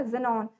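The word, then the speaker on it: Xenon: Zero को यहाँ पता है कि जेड से होता है, पर हमें क्या है, याद करना है, तो हम लोग इसको का प्रोनाउंसिएशन देखो ऐसे है ना, जेनॉन, तो जीरो, ठीक है।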